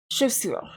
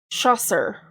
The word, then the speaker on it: chaussure: And that's how I remember the word, how to pronounce chaussure. Because otherwise, I want to pronounce it chasseur. Because that's how it's fucking spelled.